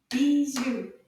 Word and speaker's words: bijoux: Bijoux. Deux syllabes. Bijoux. Bravo. The X doesn't make a sound.